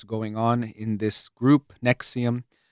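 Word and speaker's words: NXIVM: on in this group Nexium um which is spelled like Nvixm something like that and um it was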